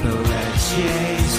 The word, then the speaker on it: Pelletier: Pelletier rhymes with Pia or Tia, as Tim correctly points out.